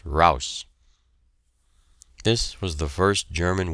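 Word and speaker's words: heraus: out of the trench hraus is the word they use pronounced rouse this was the first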